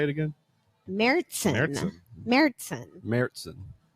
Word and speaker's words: Märzen: Märzen.